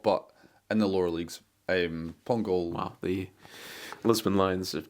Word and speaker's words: Pongolle: Pongolle? Is that the? I can't remember. Florent Sinama Pongolle? No? Pongolle. Yeah, I believe that's the pronunciation of that one.